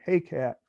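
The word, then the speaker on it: Hekate: is h-e-k-a-t-e publishing i when i pronounce this i sound like an old jazzer hey cat but i don't know if that's right or not um uh he uh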